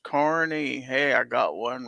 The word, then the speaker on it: Kearney: Defense Dad says yes, it's pronounced Kearney.